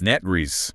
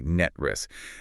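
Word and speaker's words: NTREIS: Net Reese, like Net and then a snake's hiss ris. Net Re. Exactly. Net Riss.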